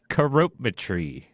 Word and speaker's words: Couropmitree: Couropmitree. Well done. Yes, forget it. Now, if I go by the phonetic pronunciation, if you ever read stuff by the way they look, it should be Couropmitree.